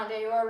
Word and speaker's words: en dehors: We've been talking about en dehors and how en dehors rhymes with open the door.